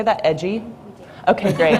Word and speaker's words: EDGI: It's so cute, so I wanted to make sure, edgy. This is a watchdog group for federal environmental data. In her current role with EDGI, Kelsey is building on her work, in EDGI is pronounced EDGI, archiving data and environmental enforcement watch.